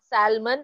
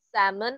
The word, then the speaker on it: salmon: Salmon, it's not salmon, it's salmon, a large sea fish.